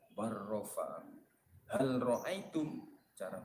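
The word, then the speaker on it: بل رفعه: Bal rofa'ahu, cara bacanya bar rofa'ahu.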